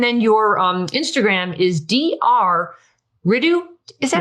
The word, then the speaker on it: Ritu: Ritu. Is that how you say it? Yeah. Ritu.